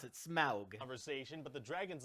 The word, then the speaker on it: Smaug: have this big okay so that's how they pronounce it smaug conversation but the dragon's like okay i guess